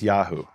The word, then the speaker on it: Yahu: And what we find is at the end of a name, it's always Yahu. Right. Now that contrasts when the Yud He Vav is at the beginning of a name, and it's not Yahu. At the beginning of a name, it's Yeho. So we have the same exact name, Netanyahu.